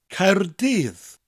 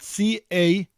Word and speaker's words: Caerdydd: The first syllable ends with a rolling R, Caer, and the double D at the end of the second syllable gives us a th sound, dydd. So the full word would be Caerdydd.